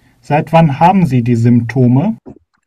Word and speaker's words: Symptome: Y는 이게 의 발음 된다고 해서 저희 Symptome 하면 언제부터 이런 증상들이 있었습니까?